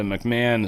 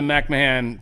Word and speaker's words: McMahon: Well, Linda McMahan pulled that back or McMahon, sorry, McMahon. I just just so naturally want to call her McMahan. Uh but she uh cuz it's spelled that damn way.